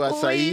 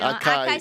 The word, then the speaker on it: Açaí: Je prononce ça en brésilien, Rio Açaí. Oui, c'est ça. C'est un Acai. Acai, c'est en anglais.